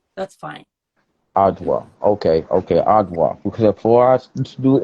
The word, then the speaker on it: Adwoa: They tell me I've been saying it wrong. I don't speak any other language but English. Apparently, it's Okay. Ajwa, but I'm American. Aj- We pronounce the D, Adwa.